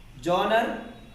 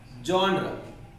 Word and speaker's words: genre: Genre. No. The right pronunciation is genre, which means Sally.